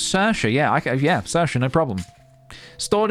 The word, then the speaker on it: Saoirse: No, in truth, I do have a lot of trouble pronouncing names. Saoirse, yeah, Saoirse, no problem.